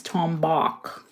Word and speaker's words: tombac: who invented it and it's tombach like BAC K that's how it's pronounced I think the I